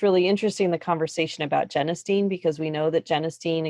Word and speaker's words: genistein: yeah i learned something i learned how to pronounce genistein i always said jenna stein nobody ever told me so genestein i will try to remember that that's how